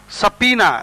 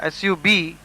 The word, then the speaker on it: subpoena: Subpoena, subpoena. The B is silent here, and it is pronounced as subpoena.